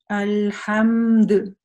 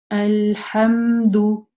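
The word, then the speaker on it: الحمد: Но здесь при продолжении у нас дамма, поэтому мы эту дамму произносим что? Ду. Ду. Опять же, внимательно не оглушаем, ничего подобного не делаем. И вытягиваем губы. Ду. Аль-хам-ду.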